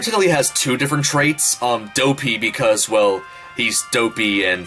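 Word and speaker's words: Doughpea: Dopey because, well, he's dopey and slow-minded, but also Dopey, which is how his name is spelled, D-O-U-G-H. P-E-A, because he's a baker and he makes, bakery food.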